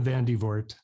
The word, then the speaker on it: Van de Voort: Vander Voort or Vert? Very close. Yeah. Van de Voort.